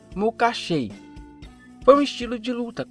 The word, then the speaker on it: Makashi: com sabre de luz foi denominada de macaxe mas apesar de muito chamá-la assim a pronúncia correta é mucachei foi um estilo de